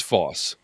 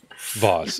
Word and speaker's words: Voss: Yeah, rhymes with the north side of a tree. Rhymes with floss. Chris Foss. Chris Bowes. Chris Voss. Voss.